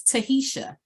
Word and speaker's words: Tahisha: Again, my name is Tahisha, exactly how it is spelled.